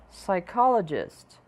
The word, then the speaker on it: psychologist: Nem sempre as consoantes que iniciam uma palavra serão pronunciadas. Vamos tentar repetir 3 vezes as palavras a seguir. No, no, no. Hour, hour, hour. Psychologist, psychologist, psychologist.